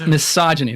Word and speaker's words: misogyny: great people at least know how to pronounce the word that describes that hatred its misogyny I'm not Minaj monotony